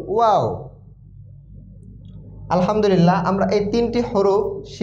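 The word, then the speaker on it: ح: ভিতর থেকে আসছে হা কিন্তু এই হা উচ্চারণ একটু ভিন্ন হা এটা একটু মোটা হবে হা গম্ভীর আওয়াজ হা এখানে আপনি হা বললে হবে এই এই হা কে উচ্চারণ করতে হবে হা এবং লেখার ক্ষেত্রে এই হার লেখা হবে এইরকম হা একটু মোটা আওয়াজে মোটা আওয়াজে পড়তে হবে হা হামজা আলিফ এবং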